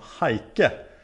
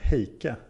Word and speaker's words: Heike: av heik förut men namnet är egentligen tysk så därför borde det uttalas mera som haike med lika tryckt på bägge stavelserna än heike Okej Hej hej heke Jag